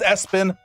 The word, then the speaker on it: ESPN: Right now, the SIDs of the team, you know, whoever that they'll say, "No, it's pronounced Espen," but it's it's spelled ESPN and then last name Lamp.